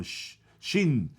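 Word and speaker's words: שין: Se pronuncia con los hebreos, más o menos lo que entiendo, se pronuncia como SH, como Shin.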